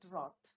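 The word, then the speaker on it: wrought: what there सै sacrifices had रॉट W silent रहता है बच्चों रॉट तो यहां पे नेल्सन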